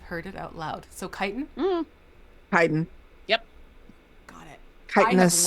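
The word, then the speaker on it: chitin: it is it no is it chitten chitt I'm sorry kitan is that what it is I have no idea how to say these names like I have read it many times Tanya's got it it's it's it's kiten it's a kit a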